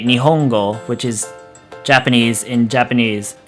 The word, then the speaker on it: Nihongo: So it's pronounced n, so Nihongo.